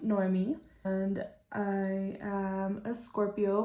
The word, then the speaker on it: Noemi: the beginning my name is Noemi it's pronounced Noemi and I am a Scorpio my birthday is on November 11th 11 11.